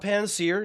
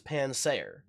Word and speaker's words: Pansaer: Not Panseer, not to be confused with the little cooking fire monkey from Pokemon. This is not Panseer, this is Pansaer.